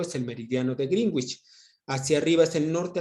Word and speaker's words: Greenwich: Tomando en cuenta el meridiano de Greenwich o Greenwich, se pronuncia Greenwich, tenemos que el meridiano de Greenwich estamos hacia la izquierda, en el hemisferio occidental.